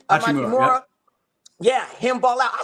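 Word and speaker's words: Hachimura: But seeing Austin step up, seeing Amachimura, that's how you pronounce his name? Amachimura.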